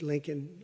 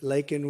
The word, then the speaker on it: Laken: lak Riley you know Laken very well now and after months of prodding him Biden couldn't pronounce her name he said he said Lincoln Lincoln Riley and Lincoln Riley is the football coach the coach and uh